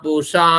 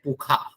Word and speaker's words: पूषा: आगे देखिए, स्वस्ति न पूषा विश्व वेदा, लोग कहते हैं पुखा, लेकिन पुखा वो कुछ प्रांत के लोग होते हैं, वो उच्चारण करते हैं, वहां के कुछ योगी जी भी बोलते हैं ख, कौन, षड्यंत्र को खड्यंत्र योगी जी, योगी यूपी के सीएम।